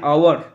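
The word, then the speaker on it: hour: Number 35, yesterday I spent an আওয়ার cleaning the হাউস। গতকাল আমি ঘর পরিষ্কার করতে 1 ঘন্টা কাটিয়েছি। তো দেখো অ্যান আওয়ার বসবে, কারণ এর জন্য আওয়ের মতো হয়েছে, তাই এখানে বসবে অ্যান আওয়ার।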